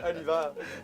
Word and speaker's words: Oliver: Nice to meet you, I’m Oliver "Oliver !!!" The English name with the French pronunciation "It's like H E R E at the end, right?" Exactly!! "Oliveuuuure!"